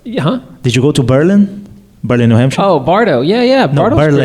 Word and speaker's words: Berlin: I'm Brazilian but I have to correct you it's Berlin the same way same way as is not not Berlin it's Berlin in New Hampshire oh Berlin same but